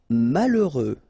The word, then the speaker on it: malheureux: Malheureux. H doesn't exist, okay, so you get mal, heureux. Final X not pronounced. Malheureux.